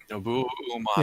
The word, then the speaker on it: Nobuo Uematsu: Uematsu? Nobuo Uematsu.